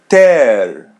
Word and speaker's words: ter: Oh, ear verb to have ter. As you see, the letter e is pronounced as e and the letter r is as English r ter.